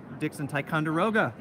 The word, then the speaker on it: Dixon Ticonderoga: lots of art materials so again this is Dixon Ticonderoga I said it right this time thank you